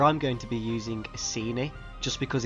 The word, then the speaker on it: Iceni: with a soft sea a ceni or the latin way with a hard c a kini however nobody knows how